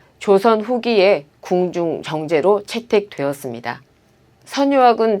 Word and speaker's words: 선유악: 선유학은 향악 정제입니다. 선유학은 원래 지방 관아의 음악, 즉 교방 정제인데 조선 후기에 궁중 정제로 채택되었습니다. 선유학은 통상 선유락으로 읽는데 이것은 오류입니다.